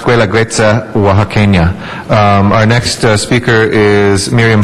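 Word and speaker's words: Guelaguetza Oaxaqueña: It's pronounced Guela Guetza Oaxaqueña.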